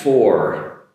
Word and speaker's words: for: After that is for. So make your F sound, upper teeth and lower lip, and keep it to a aw, and then after that a R, for. Making that R sound properly by using my upper teeth and touching ever so slightly my lower lip. For.